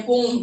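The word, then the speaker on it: poem: पढ़ा होगा, ठीक है, आप तो पोएम बोलते नहीं है, पोम, ठीक है, करेक्ट प्रोनाउंसिएशन पोम होता है।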